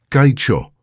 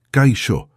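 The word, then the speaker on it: Kaixo: ¿Puedes repetirlo?» «Kaicho», intentó Ricardo, pero la pronunciación sonó forzada y extraña en su boca. No, escucha. Kaicho. La X se pronuncia como sh.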